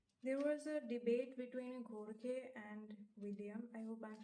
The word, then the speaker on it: Jorge: I did not want to say George because it was written originally in Italian, and I don't know, okay. They pronounce it Jorge, although I could be wrong. I don't know. It just sounds right. Jorge sounds right, okay.